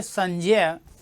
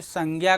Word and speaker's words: संज्ञा: चलो यही लिखो संजय यानी इसका मूलत उच्चारण होना चाहिए संजय लेकिन हम आप उच्चारण क्या करते हैं बच्चे संज्ञा करते हैं उच्चारण क्या कर रहे होते हैं संज्ञा उच्चारण हम लोग क्या कर रहे हैं संज्ञा कर रहे हैं जबकि सही मायने में इसका उच्चारण क्या होना चाहिए संजय होना चाहिए समझ रहे हो बच्चे उच्चारण सही